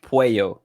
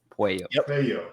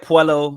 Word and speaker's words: Puello: there so it's pronounced pueyo so it's like it's it's a hispanics not the same so the double l is like a y puyo just like children i get puello i got pollo i've gotten it all